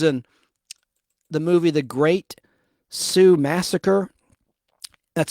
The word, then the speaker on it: Sioux: She was in the movie The Great Sioux Massacre. That's spelled S-I-O-U-X, like Sioux City.